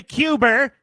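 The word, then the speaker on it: Cuba: did they go to Cuber? They went there, too. Why do I use that pronunciation? Because that's Bernie Sanders's pronunciation. I assume he knows what he's talking about.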